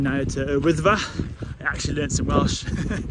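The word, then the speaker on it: Wyddfa: Snowdon, but I changed the name now to Wythfa. I actually learned some Welsh. Learned how to say it properly. He says no. Wait for the comments. No, it's Wythfa.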